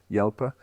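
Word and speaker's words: Jalpa: They made 35 Lamborghini Halper, Yelper, however you pronounce it in Italian. Yelper, because there is no J in Italian, apparently. So even though they they called it a name with a J.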